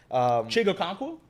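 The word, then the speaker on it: Chig Okonkwo: I'm not going to be able to pronounce that guy's name. Chigo Okonkwo?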